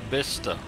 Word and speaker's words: Bicester: Well, it took me ages to get Bister. Well, how's it written? Bister is B-I-C-E-I-S-T-E-R. Someone, it's spelt Bicester.